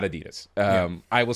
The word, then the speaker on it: Adidas: the name for for Adidas. So Adi Das, right? And that's how most people say it around the world. Yes. Yes. We're as Americans, we say it wrong. like it's not Adidas.